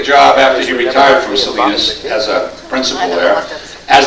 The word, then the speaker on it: Salinas: Salinas. Sorry, okay, California. Thank you, John Steinbeck. Isn't California, that's on the other side of the Hudson River, is it? George took a job after he retired from Salinas as a principal there, as the high school